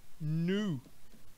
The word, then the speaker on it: knew: Knew. Know no presente. Knew no passado. E observa aí a pronúncia mais uma vez. EW pronuncia-se U.